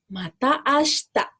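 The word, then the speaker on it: また明日: Biasanya diucapkan mata ashita. Si-nya tidak terlalu jelas diucapkan, tapi hanya sedikit saja.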